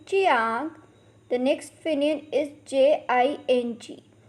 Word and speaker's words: jiang: The next Pinyin is Jiang, has a pronunciation of Chiang. Repeat after me, Chiang.